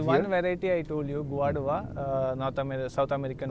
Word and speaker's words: Guadua: There is one variety I told you, Guadua, South American How variety. do you spell it?